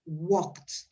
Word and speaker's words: walked: Entonces, en esos casos, la pronunciación es una T. Entonces, lo que yo pronuncio es walked.